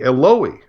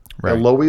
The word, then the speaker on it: Eloi: this is Hebrew because otherwise it would be Eloy eloi is how you say my God in Aramaic ah but if but